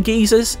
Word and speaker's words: geysers: Fizzing geysers, yes that is how British people pronounce geyser, offer the chance